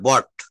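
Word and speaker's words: bought: বলে বাই ব্রট বলে এটা উচ্চারণ ব্রট না এটা উচ্চারণ হবে বট বটবা কখন ব্যবহ করব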